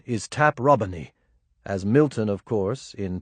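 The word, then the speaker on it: Taprobane: The name taproane is now usually spoken to rhyme with plain, but the correct classical pronunciation is taproin as Milton of course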